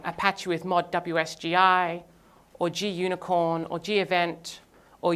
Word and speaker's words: WSGI: Flask is a WSGI application, WSGI, which I've also heard pronounced whiskey, but then I didn't know what they were talking about.